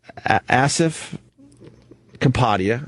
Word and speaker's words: Kapadia: So, we had Asif Kapadia. I think that's how you say his name.